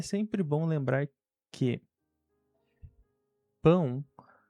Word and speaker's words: pão: Entretanto, é sempre bom lembrar que pão não se pronuncia como au, como wow, ou seja, pa ou power, certo? É pão, mão.